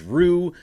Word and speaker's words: Ryu: I've listened to Bill Plunkett came on to the Mason Ireland show and he said that it was Rue, and we went with Rue all of last year.